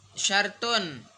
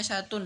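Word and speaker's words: شَرْطٌ: Syartun. Ana kan bacanya syartun tadi bukan syart ee syartu syartun.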